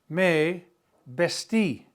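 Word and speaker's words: me vestí: So, we're going to use the pronoun may bestie. Accent on the eye.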